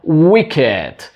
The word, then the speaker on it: Wicked: Atenció amb la pronunciació perquè la majoria de verbs, d'adjectius, de participis que acaben amb ed, la e no es pronuncia, però aquesta és una excepció. En aquest cas sí que s'ha de dir wicked.